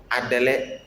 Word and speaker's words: Adɛlɛ: Next we have Adɛlɛ. Adɛlɛ, which is spoon. Spoon in Nzema is called Adɛlɛ. It is spelled as A D E O E A D E O E.